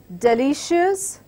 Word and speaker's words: delicious: Words ending with IOUS: delicious, glorious, conscious, repetitious, infectious. So words which have been bold, this is where the stress goes.